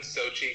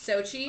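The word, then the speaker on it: Xochitl: um like used one Sochi Gomez Sochi um yeah so they don't pronounce the L part though probably it goes sochido but everyone just calls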